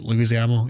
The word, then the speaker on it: Leguizamo: Like, see, like that, any scene with the acting troupe with John Leguizamo, that's how you say it, Leguizamo, yeah.